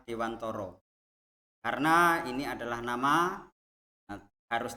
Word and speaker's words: Dewantara: Ya, jadi di sini walaupun tulisannya Dewantara, tapi menurut kami membacanya adalah Dewantoro.